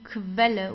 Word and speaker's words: Quelle: Whenever you have a Q and U together, you pronounce it as Kv, like a K and W together, like German W. Kv. Okay, die Quelle. Die Quelle. So we don't say Quelle because many people say Quelle, but it's not Quelle, it's Quelle.